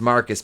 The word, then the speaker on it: Marquis: jada tells ryan that marquise pronounced marcus because he's [ __